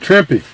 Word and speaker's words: Trimpe: Barry Smith and a Herb Trimpe, or Trimp, however you say his name. I've heard it said both ways.